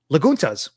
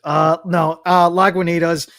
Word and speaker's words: Lagunitas: And I'm gonna pronounce it as how she pronounces it. Laguntas. Laguntas beer. Laguntas beer. The I in it. Yeah, Laguntas. Lagunitas.